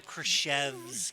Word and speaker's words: Krichevsky: That's actually Krichevsky. really All good. right. No, it's like a silent C, like Chevrolet. So Krichevsky.